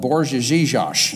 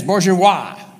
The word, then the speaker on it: bourgeois: And he even gave them a word called Borjezizosh. I said it wrong. Borjezizosie. There it is, bourgeois.